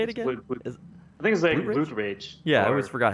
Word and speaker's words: Blood Rage: Oh, Blood Rock? How do you say it again? Blood Rage.